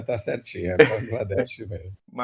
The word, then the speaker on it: Bangladesh: A pronúncia tá certinha. Bangladesh mesmo.